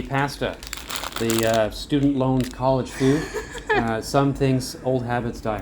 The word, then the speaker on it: Fud: I think they pronounce it food here, which makes more sense.